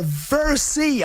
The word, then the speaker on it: Versey: Put your hands together and give it up for Versey. Am I saying it right? Yeah, that's it, Versey, yeah.